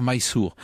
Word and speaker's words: Mysore: Alors Mysore, c'est en fait la prononciation française d'une graphie anglaise, il faudrait dire Mysore.